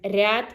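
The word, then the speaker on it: ряд: So if you uh pronounce hard r in one word, it will mean one thing. But if you pronounce soft r, it will be another word. So for example, rad is glad and ryad is row.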